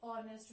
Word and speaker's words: honest: man we say an honest man and honorable men so where H is silent or where edges mirror